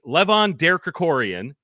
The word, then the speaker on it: Levon Derkrikorian: It's Levon Derkrikorian.